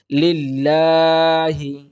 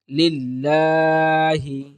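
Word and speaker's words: لِلَّهِ: আমরা উচ্চারণ করব তাহলে দেখবেন সহজেই আলহামদু আমরা উচ্চারণ করতে পারবো আলহামদু এরপরে দেখুন লিল্লাহি লিল্লাহি এখানে দেখুন লামের উপরে খাড়া জবর আছে সুতরাং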